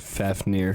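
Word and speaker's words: Fafnir: Fafneer. Fafneer slain by uh Seigur.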